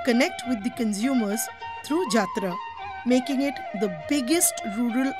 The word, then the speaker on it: Jatra: Yatra, pronounced as Jatra, is a 500-year-old form of folk theatre in Bengal, Orissa, and Assam.